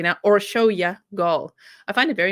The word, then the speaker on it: Orsolya: the victim's name correctly so thank you so much to all my hungarian grizzlies who've been commenting and literally finitely phonetically spelling it out so that i can be like oh or show you or show your goal okay so gold was